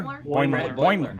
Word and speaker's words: Boimler: Boiler? Boimler. How do people feel about yeah. Brad Boimler? Because there's a lot to like, there's a lot to hate. I love that there's now something called the Boimler effect, which means like ignore the rules, and